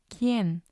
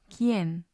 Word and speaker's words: quién: Or we also have the QUI combination, as in quién, quién.